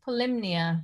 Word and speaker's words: Polyhymnia: which is called poly polymnia how do you say that yeah it's pronounced polymnia but yeah spelt polyhymnia yeah named after the